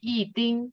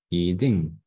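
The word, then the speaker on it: 一定: So it's, for example, in this case, follow E is four tone, right? So you're not gonna say 一定, you're gonna say what? 一定。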